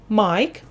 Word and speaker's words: Mike: слово у нас Майк закінчується на Айк в цих словах у нас літера і остання вона не читається вона німа ось а літера ай